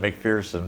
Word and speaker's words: McPherson: LinkedIn again McPherson you pronounce it McPherson but there is no fear in a McPherson that that was one